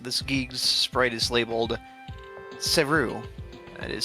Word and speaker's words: Cerue: Game never mentions her name, but in its files, this Geeg's sprite is labeled Cerue. That is spelled C-E-R-U-E, keeping the naming convention of Geeg's names ending in U-E, like New and Geeg.